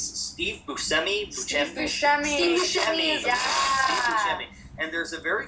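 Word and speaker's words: Steve Buscemi: I was saying his name wrong, but it's Steve Busi.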